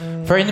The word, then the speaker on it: Firne: Fern po.